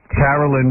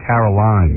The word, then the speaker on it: Carolyn: me with his was his wife, his bet, Carolyn bet. And I remember all the times I spent talking to her, I was always afraid to say her name because I was afraid I'd say Caroline.